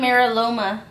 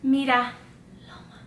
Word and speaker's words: Mira Loma: They're from Miraloma, so you know what that means. You say it like if you're not Hispanic. Mira Loma. Dilo bien. That sounds sexy.